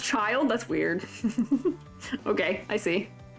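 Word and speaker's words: Childe: grater let me let me grater it's just pronounced child that's weird okay I see h yeah t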